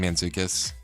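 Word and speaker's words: Mantzoukas: Jason Manzukus is a a frequent co-host, I guess.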